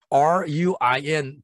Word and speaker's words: ruin: 여기서 R-U-I-N 발음을 ruin 안 하지 않고 ruin 이렇게 발음합니다.